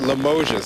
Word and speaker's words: Limoges: we're told by fire officials is 79 South limoges that's how the locals pronounced that we are told that an eight-year-old